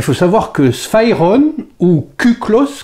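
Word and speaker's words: κύκλος: Alors il faut savoir que Sphairon, ou Kuklos, qui s'écrit Cyclos, je le prononce à la grecque ancienne, c'était pour les Grecs la forme parfaite.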